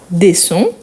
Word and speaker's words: descends: le S toujours donc tu descends avec DS à la fin descend pourquoi c'est la deuxème personne tu descends on ne le prononce pas mais il faut les écrire quand même tu descends l'escalier et